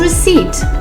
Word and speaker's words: receipt: The right word is receipt because the P is silent.